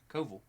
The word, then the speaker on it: Koval: Koval, there's a V, not an F. Koval.